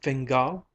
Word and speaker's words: Fingal: "Camilla Fingal," said the other, looking up from her cup, her upper lip red and moist. She accented the surname on the last syllable.